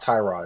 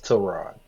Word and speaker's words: Tyrod: And his week three, uh, apparently it's Terrod. We've been saying his name wrong all these years. It's not Tyrod, it's Trod.